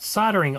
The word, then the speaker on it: soldering: Telstar premium quality 45-watt soldering iron on the rack at the dollar store for $2. And yes, here in the United States of America, the L is silent.